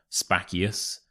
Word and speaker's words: spacious: This C comes before the I, and therefore it's soft and it's spacious. So not spacious, spacus, it's spacious.